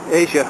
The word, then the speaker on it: Esja: So enjoy the view out over the sea to Asia, I think they pronounce it, ESJA, and I'll get back to you later.